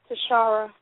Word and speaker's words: Tashaira: Is this Tashaira? It's Tashaira. Tashaira, I was wondering if I pronounced that right.